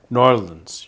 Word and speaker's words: New Orleans: dumb but um uh New Orleans has norleans you know pronounce it right norleans norleans nor Orleans